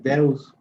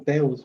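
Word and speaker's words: θεός: Aquí, Dios, esta es la palabra, el nombre, que como les mencionaba, se pronuncia como Deus. Esa es como la pronunciación Deus, aunque se lee como Teus para nosotros, Teus.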